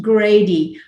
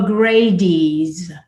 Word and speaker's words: Grady: And I learned that there was an assumption in my DeKalb County community that urban Atlantans, especially African Americans, mispronounced Grady by calling it the Gradys, plural.